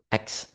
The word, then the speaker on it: ask: So for the word X, that actually came from ask. The text reference is he always pronounced ask as X. The consonant S and K switch position. This is a classic and widely documented example of metathesis and English dialects.